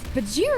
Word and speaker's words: Bajheera: doing the show i was like it's it's bajira i think yeah but it should be bagheera like where it comes from i think your